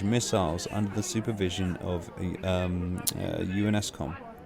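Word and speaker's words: UNSCOM: under the supervision of UNESCOM. UNESCOM. Is it how they say it, isn't it? The UNESCOM or something like that. It's not spelt that way, but that's how they pronounce it.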